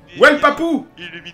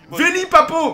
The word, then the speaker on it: Veli Papo: J'ai failli dire Well Papo. Veli Papo.